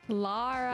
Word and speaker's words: Lara: you hard harder gunny Lara laraa Lara Lara Croft not Laura Croft laara laara La she